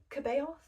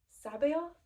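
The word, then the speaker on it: C'baoth: I thought it was Kabeoth, but apparently it's Sabaoth, something like that.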